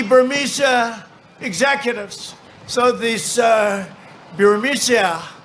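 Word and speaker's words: Burisma: Executives so these uh biria buia they say pronounce it buia a real beautiful Company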